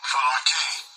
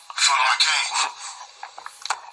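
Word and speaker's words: φυλακή: Fulake. Fulake. Fulake. Kind of like you're a fool if you're separating yourself from God if you're believing in that natural lake.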